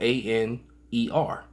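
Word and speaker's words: ἀνήρ: but it's spelled A-N-E-R. And I think it's Aner.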